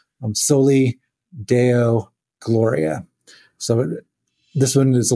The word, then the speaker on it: soli Deo gloria: And I'm probably going to butcher the Latin, but I think it's pronounced soli deo gloria.